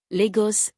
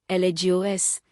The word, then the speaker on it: Lagos: Nigerian cities, Abuja, Abuja, Lagos, Lagos, Kano, Kano, Ibadan, Ibadan first syllable.